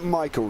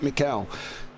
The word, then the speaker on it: Michael: Haha, pronounced like Michael, not Mikhail.